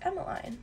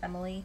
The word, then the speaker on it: Emmaline: and I was like it's Emmaline because sometimes I have a hard time saying my name or they think it's Emily cuz they sound the same and there's a lot